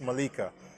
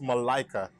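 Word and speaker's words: Malika: this the way this is per new is pronounced Mallika it's actually pronounced Malaika and yeah the reason why that happens is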